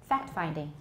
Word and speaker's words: fact-finding: say phrases like fact-finding do you pronounce the t at the end of fact did i just now fact-finding did i pronounce the